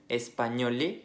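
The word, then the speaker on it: espagnol: Cuando juntamos una G y una N, el sonido va a ser como nuestra ñ.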